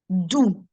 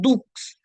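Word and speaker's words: doux: Notice carefully, guys. If you remember the dipsticks rule, DPSTX, whenever it is at the end of a word as consonants, we don't pronounce them. And that's the same thing that you're seeing here. It's not prix, it's not six, it's not folks, it's not dukes. We don't pronounce them altogether.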